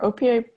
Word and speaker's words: OPA: And it is actually pronounced OPA.